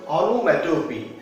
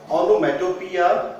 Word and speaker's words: onomatopoeia: The next one is onomatopoeia. Some people will call it onomatopoeia, but the actual pronunciation is onomatopoeia. We will stop on P.